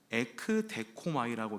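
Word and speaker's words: ἐκδέχομαι: 전치사와 그리고 데코마이라는 말의 합성어입니다 그러니까이 기다리라는 말은 에크 데코마이라고 읽습니다 그런데이 에크라는 전치사항은요 멋모로부터 뭐 밖에서부터 이렇게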